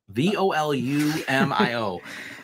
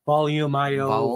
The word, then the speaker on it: Volumio: volumio that sounds good volume io volume io um it's like volume but you take the e off the end of it and add i o at the end and you just attach